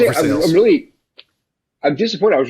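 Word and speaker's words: Versailles: and then uh because it's Kentucky we have ver sales uh anywhere else in World anywhere else in the world is pronounced Versa but Kentucky yes but Kentuck now I'm repping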